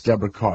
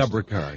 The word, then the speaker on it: Deborah Kerr: It's Deborah Carr. That's how she pronounced it. Deborah Carr.